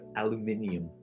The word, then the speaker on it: aluminium: It was actually aluminum first. Aluminium. It took me so long to pronounce that right.